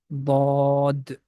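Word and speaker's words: ض: and the side of the tongue is going to touch with the molar teeth, with the edges of upper side of molar teeth. Dod.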